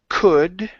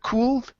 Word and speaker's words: could: Uh, next we have the word could right here instead of cool. Okay. The L is silent.